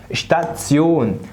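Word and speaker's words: Station: زي المقطع ده الاس تي تنطق اشت اشت اشت، اكنك بتقول حد اشت وشفت كده. شتات، لا ركز بقى، احنا قلنا الاربع حروف دولها تسيون، يبقى شتاتسيون اشتاتسيون.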